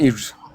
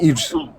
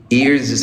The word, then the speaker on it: earth: እስኪ በለው። I live in Earth. Huh? I live in Earth. Or I live in land. No, you don't live. I live on. Like, I live on Earth. Ears ሳይሆን earth.